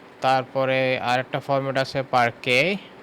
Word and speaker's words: parquet: তারপরে আরেকটা ফরম্যাট আছে parquet, এটার উচ্চারণটা হচ্ছে শেষে টি-টা সাইলেন্ট, parquet।